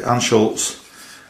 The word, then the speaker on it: Anschutz: Okay, so that's the Anschutz, according to the internet, is how you pronounce it.